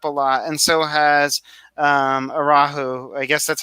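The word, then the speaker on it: Aarau: They've also put up a lot, and so has Arahu. I guess that's how you say it. Arau.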